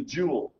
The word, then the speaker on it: joule: has been defined to be the joule, which rhymes with pool.